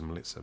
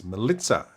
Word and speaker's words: Melitza: So Melissa, everyone knows her as Melissa, but it's Melitza, and the actual pronunciation is Melitza.